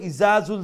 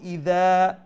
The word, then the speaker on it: إذا: ইদা জুল, আর যদি কই ইজাজুল জিলাতিল, আমরা অনেক সময় কই ইসুরা ইজাজুল জিলাতিল, তো ইজা যদি কই তইলে জা উচ্চারণ করলাম, আর যখন কইমু ইদা তইলে দাল উচ্চারণ করলাম।